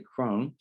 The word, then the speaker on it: Krohn: 1384 mulholland mr eldridge krohn and it was pronounced actually crone ran the pharmacy from 1946 to 1981.